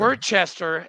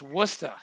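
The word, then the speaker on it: Worcester: in New England okay it's not Hey listen Worchester it's wora I'm a Midwestern kid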